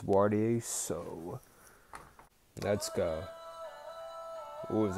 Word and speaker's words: Waareya: what where is it yeah it's pronounced warty so let's go it